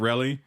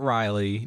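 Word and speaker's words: Relly: and then you got rally yes my name is rally pronounced like jelly but really not riley not remy not reggie i think that's all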